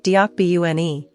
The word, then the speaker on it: 덕분에: Watch your pronunciation, the n, deok-BU-ne. It can sound like P at the end of a syllable, but it's an unaspirated B.